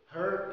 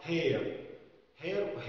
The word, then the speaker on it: her: معانا كلمة تانية اللي هي كلمة her يعني هي، معظم الناس بينطقوها hair يعني شعر، فيقول لك مثلا I